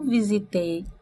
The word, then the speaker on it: visit: sílaba não é tônica Olha a minha pronúncia Visit Visit Qual é a tônica o vi ó lá a segunda parte não é tônica então eu não posso